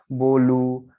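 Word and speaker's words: bolo: तो ये जो है कोई भी शब्द अगर ओ पे खत्म हो रहा है तो वो ऑटोमेटिकली उसका उच्चारण जो है ओ जो है ऊ पे बदल जाएगा, है ना।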